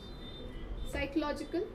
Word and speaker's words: psychological: Psychological. The next word is psychological. The P is not pronounced. It's silent.